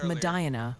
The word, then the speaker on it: Medina: It's Madina for Medina, Ohio, and Onian for that spot in New York you jazzed up earlier.